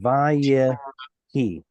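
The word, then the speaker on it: ויהי: Well, it turns into vayehi. Yeah. So we lose that final vowel.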